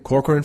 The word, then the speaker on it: Corcoran: Corcoran from Shark Tank?